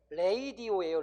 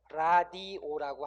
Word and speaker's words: radio: 예를 들면 RADIO는 원 발음은 레이디오예요, 레이디오. 응? 레이디오. 근데 우리 이거 레이디오라고 안 하고 뭐라 그래? 그냥 라디오라고 하는 거지.